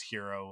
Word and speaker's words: gyro: Like some places you might hear it referred to as hero, like which is spelled gyro, Mm. gyro.